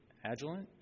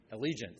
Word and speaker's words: Allegiant: you are booking travel through agilent i i i can't how do you say that john allegiant thank you mess up their